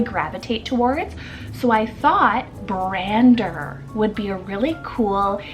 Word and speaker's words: Brander: Then we have Brander, spelled B-R-A-N-D-E-R, Brander.